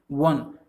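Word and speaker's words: one: एन का यूज़ करेंगे, लेकिन आपको उस पे ध्यान नहीं देना है, आप इसको प्रोनाउंस कीजिए वन। व आपका यहाँ पे एक्चुअली में है वन, हम लोग पढ़ते हैं हम लोग।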